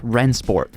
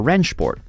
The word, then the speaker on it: Rennsport: why first up ransport or wrench sport if you pronounce it properly despite sounding like a